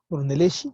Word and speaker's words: Brunelleschi: Brunelleschi, aquí se pronuncia Shi, no Chi, que es la cúpula de la Catedral de Florencia.